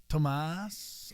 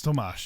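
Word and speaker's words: Tomáš: just goes sometimes like oh is it thas and but respectively then you don't have to go by thy yeah yeah right exactly but isn't it isn't it tomash it's tomash yeah how it if you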